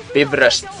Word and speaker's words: Bifrost: Justin, also known as Bifrost, or as properly pronounced in Icelandic, Bifrost.